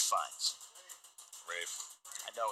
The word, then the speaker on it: Ralph: and Ralph Fiennes, or Rafe Fiennes? Rafe. I know it's. I don't understand how you get Rafe with an L.